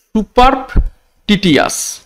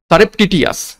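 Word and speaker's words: surreptitious: দেখো দেখো সুপারটিটিয়াস, সরি উচ্চারণটা আমি ভুল করেছি। দেখো সারেপটিয়াস, সারেপটিটিয়াস, সারেপটিটিয়াস শব্দটা স্টার মার্ক করবে।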